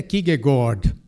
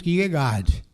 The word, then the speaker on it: Kierkegaard: A pronúncia é Kierkegaard, né, em dinamarquês. Nós dizemos Kierkegaard. Assim, mas o curioso é o seguinte, que nós não dizemos Washington, nós dizemos Washington.